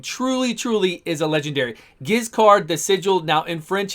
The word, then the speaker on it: Giscard: truly is a legendary giz card the sigil now in french is pronounced totally different the d is silent the beginning is like just car so i'm just going to say just giz card because it's much easier